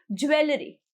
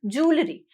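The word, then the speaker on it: jewellery: जिसको आप बोलते हो आप उसको बोलते हो ज्वेलरी, ज्वेलरी इज नॉट a word, the right pronunciation is जूलरी, जूलरी, जूलरी, ठीक है, इट इज जूलरी।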